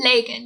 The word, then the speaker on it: Lagan: Lagan, yes.